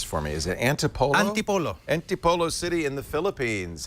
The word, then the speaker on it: Antipolo: And Chris is on the line from, and you better pronounce this for me, is it Antipolo? Antipolo.